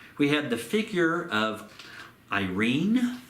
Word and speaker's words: Irene: And to mark this, we have the figure of Irene, or Irene, if you want to use the Greek pronunciation there, with a dove and an olive branch.